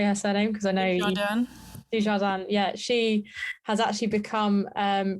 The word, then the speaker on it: Dujardin: Because I know Dujardin, yeah, she has actually become Britain's most decorated female Olympian.